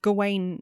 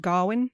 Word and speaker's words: Gawain: one and that's when G Garwin I'm going to say G because that's how we say it in modern well yeah apparently it's kind of gain now but back then it would have been pronounced gwin yeah strange but yeah